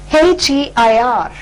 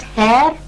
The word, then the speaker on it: heir: So heir, the word starts with H, but the sound or the pronunciation that comes first is A, which is a vowel sound.